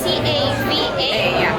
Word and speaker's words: cava: So actually it's C-A-V-A, but the V we always pronounce this as a B. Exactly, cava.